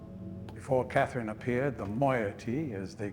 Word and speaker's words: moiety: Before Katherine appeared, the moyotee, as they call themselves, I'm glad I was pronouncing it right this whole time.